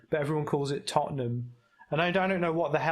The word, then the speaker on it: Tottenham: It's pronounced. It's basically it's written as Tottenham, but everyone calls it Tottenham.